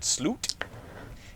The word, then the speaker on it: slut: it's it's over is the word slute it is spelled s l u t so the movie just